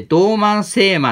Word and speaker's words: 道満晴明: 同 3 つ星秋って書いて道満晴明って読むんですけどこれはね